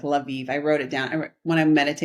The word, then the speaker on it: Lviv: And I said, surely it's not, you don't pronounce it like Lviv. Maybe it's like live or something, like, so then I